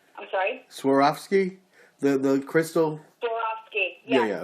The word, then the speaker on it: Swarovski: Maybe it's the new Swarovski stones that came out, or You mean Swarovski? Of Swarovski. I'm sorry? Swarovski? The crystal? Swarovski. Yeah, Yes, okay. Swarovski. Everybody pronounces it differently.